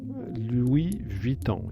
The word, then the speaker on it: Louis Vuitton: main Square you can find the Louis Vuitton Louis Vuitton yes that's the way it's pronounced an LV if you like and in